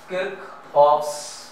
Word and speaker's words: Kirchhoff's: ठीक, लिख देता हूं आपके लिए, किरचॉफ्स, इसका सही प्रोनाउंसिएशन यही है, वोल्टेज लॉ।